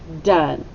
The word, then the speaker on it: done: how many sounds three we have duh and it sounds like a short u but it's an o in e so very tricky very very tricky okay it starts with a then sound the o sounds like what yeah short u so we mark it with a brief and then we hear the n and the e is completely silent done but it's spelled